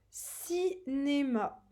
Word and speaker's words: cinéma: Cinéma. Cinéma. Qu'est-ce qu'on entend comme son consonne dans cinéma? On entend le S qui s'écrit avec le C.